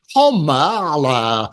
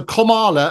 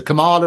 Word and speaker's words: Kamala: It's actually Kamala, as in sort of comma, so like punctuation. So Kamala, as opposed to Kamala or Cami or anything like that sort of stuff.